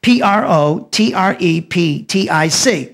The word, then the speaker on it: protreptic: parenetic letter let me spell the word protreptic p r o t r e p t i c protreptic it's it's pronounced the word parenetic is p a r